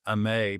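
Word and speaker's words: Aimee: The Maye family, and the mom's name is pronounced Amay, by the way.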